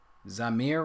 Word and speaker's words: Zamir: So Zamir, right? That's how you pronounce him.